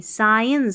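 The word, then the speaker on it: science: टल टी L environmental अब इसको सींस नहीं साइंस साइंस एस सी आई सा यहां पर सा एस आई साइंस साइंस यानी कि साइंस साइंस ऐसे पढ़ना है फिर इसको एंड एंड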